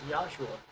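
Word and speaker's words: Yeshua: You know the the real uh Hebrew pronunciation is Yosua.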